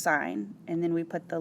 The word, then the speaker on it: sin: need to find the sine of a the abbreviation we abbreviate sine to just s i n we just drop the e but it's not pronounced sin it's still pronounced sine and then we put